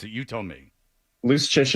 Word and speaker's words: Luszczyszyn: You told me loose chish. It's uh it's Polish. The C's and zeds do things that uh regular English don't like. This doesn't make sense. It's like a ch sound or whatever.